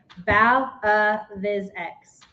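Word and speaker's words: BAVX: Ball. No. Bow. Mm-hmm. Balance. Yes. Bow of physics. Yeah. It's closer? You're closer. Okay, say it right then. Okay. Bow Viz X. Acronym, you're super close. Acronym for Balance Auditory Vision Exercises.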